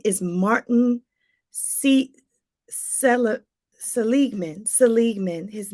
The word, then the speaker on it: Seligman: uh positive psychology his name is Martin see Seligman Seligman his name is spelled s-e-l-i-g-m-a-n Martin Seligman he's known as the